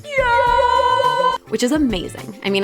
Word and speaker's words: 요: It's pronounced yo, which is amazing.